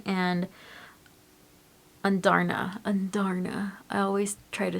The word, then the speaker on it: Andarna: to say her name, but it's Taryn and Andarna.